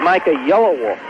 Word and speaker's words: Yellowwolf: Now into the game, basically for the fouling purposes, is Micah Yellowwolf. Am I pronouncing that right?